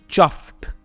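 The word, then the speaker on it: chuffed: Although ये ईडी में एंड होता है, हम ईडी नहीं कहते, ये एक सॉफ्ट टी में एंड होता है। हम कहते हैं चफ्ड एंड नॉट चफ्ड, राइट?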